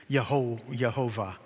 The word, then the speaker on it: Jehovah: So Jehovah, and a J is the Latin version of Y. And so they would have pronounced in Latin, Yehovah. But in English, we pronounce it like an English J.